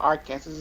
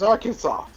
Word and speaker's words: Arkansas: not i don't know it's not your case it's not my cancer it's not our cancers it's arkansas arkans jumping out to